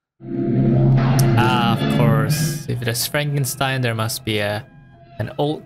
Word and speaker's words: Frankenstein: That's Frankenstein. Beg your pardon? What? It's pronounced Frankenstein.